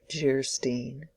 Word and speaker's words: Geierstein: Anne of Geierstein, pronounced Geierstein, or The Maiden of the Mist, by the author of Waverley.